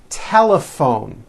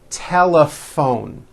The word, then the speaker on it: telephone: in that word laugh telephone notice the pH combination in that word is also pronounced as an F telephone it's the same thing